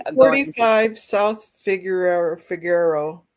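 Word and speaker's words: Figueroa: Was I a 45 South Figur Figarero? How do you say that? Figuroa.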